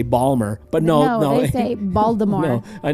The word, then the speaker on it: Baltimore: it up balmer balmer like a baller ball balmer oh crap he's on but he's gonna he